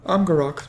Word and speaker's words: Amgarrak: Well, I guess we're going to head into Amgarrak. I'm still saying it wrong. Amgarrak. There we go.